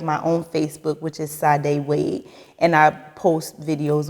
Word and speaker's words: Sade: It's spelled S-A-D-E. Yes, Sade.